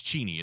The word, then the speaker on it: Cheney: is it really it it really is it's cheny it's not Cheney but he's like you know what it's already